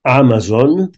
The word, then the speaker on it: Amazon: de ser és Cancelo, Vinicius, UCI, Mice, Acicom, Amazon i Bizum. Donat que la C es pronuncia tal qual C i no C a la castellana, i en valencià la Z sempre és sonora.